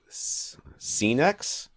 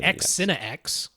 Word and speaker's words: Scenex: think about Venue by Scenex? That is how they say to pronounce it. N-E-X. I mean, I would have called it X-Cine-X because it looks like X-Cine-X, but they say they are pronounced Scene-X, but whatever.